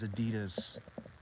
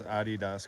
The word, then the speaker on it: Adidas: house men wear Adidas Adidas I think that's the correct pronunciation Adidas I've been saying it wrong my whole life I think it's Adidas it's German it's a German company the dude's name is Adi someone's laughing so loud